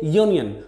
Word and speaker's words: Union: is a moment but when we pronounce these word we say Union the initial sound is yo like this you that's why we can't